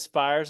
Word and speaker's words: Spyres: well let me first ask you is it spes is for correct pronunciation SP yeah sorry my phone just okay problem okay to turn that off oh no problem so yes the name is spes of the band and uh so the last